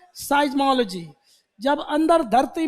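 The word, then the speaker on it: seismology: अब इसको पहले इसका प्रोनाउंसिएशन लिखो, साइजो, साइज्मो, साइज बोलते हैं, साइज बोलते हैं, साइज्मो, साइज्मोलॉजी, साइज्मोलॉजी, सिज्मो नहीं, साइज्मो बोलते हैं, साइज्मोलॉजी।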